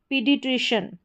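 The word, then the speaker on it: paediatrician: फिर यहाँ पर देखिए, यहाँ पर बीच में है, ठीक है, शुरू में तो नहीं है, ए ई है, इसका उच्चारण ई करके होगा, तो ये हो गया पीडिट्रिशियन।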